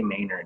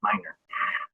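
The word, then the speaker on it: Mainor: i mispronounced your name i always say maynard he never corrects me it's minor um and some of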